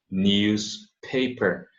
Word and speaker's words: newspaper: Olha a pronúncia, news, som de Z, paper, newspaper.